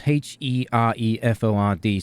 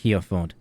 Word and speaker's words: Hereford: It's spelled Hereford. Some people will call it Hereford. It's Hereford. Hereford.